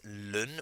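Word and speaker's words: ln: to refer to it a lot of people just say it as lon which is what it sounds like which is fine as well a lot of people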